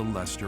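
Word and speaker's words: Leicester: King nor Emperor rules what is called the Lester Alliance luster once consumed by a tempest of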